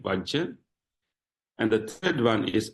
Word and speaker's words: vajja: pointing out faults so w is fault waj that is how you pronounce it vaj and the third one